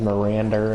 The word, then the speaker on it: Miranda: Heisenberg's accent accent desty he pronounces Miranda as mirander and somehow for some